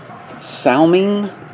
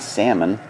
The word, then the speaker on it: Salming: Salming, not Salmon, Salming, I don't know how to say his name.